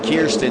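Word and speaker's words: Kiersten: Yeah, that's Jax Rowe out of Ottawa, Tennessee, followed by Cash McClure, and then Kirsten Hasty, because Kier rhymes with beer.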